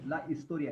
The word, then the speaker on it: historia: how will you say Historia hisor H is silent yeah hisor yeah it's